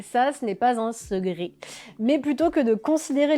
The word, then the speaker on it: secret: Le C se prononce quelquefois comme un G. Ainsi on prononce segré et non pas secret. Second et non pas ce con.